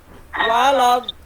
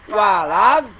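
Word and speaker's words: ولا الضالين: Nah, di sini dibacanya waladhdallin. Nih, si lidah. Nah, lidah jangan dilepaskan, tong ke handap jangan ke bawah kan.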